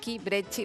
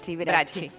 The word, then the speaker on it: Bracchi: Y bueno, estoy hablando de Bracchi, Brecci, vos me mirás cómo se pronuncia. Bracchi.